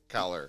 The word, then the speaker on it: Callar: you got Mor CER Mor caller caller caller that's good I there was a